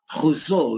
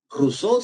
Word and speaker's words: Rousseau: bien, se llama Jacques Rousseau, ¿verdad? O Rousseau, si quieres pronunciarlo en castellano, ¿no?